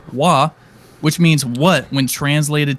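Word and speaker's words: 华: The etymology of the first character is derived from this character, pronounced Hua, which means what when translated to English?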